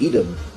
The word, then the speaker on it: Edom: And Edom, or as Americans pronounce it, Edom, is still the biblical enemy of Yaakov.